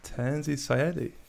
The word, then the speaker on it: Tanzy Sayadi: show of music matt's podcast today we've got tanzi syedi is how you say your name is yeah